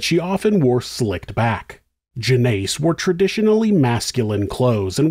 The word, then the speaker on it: Jeannace: This is Monsters Jeannace (pronounced Jen-ACE) was born in late 1941 or early 1942.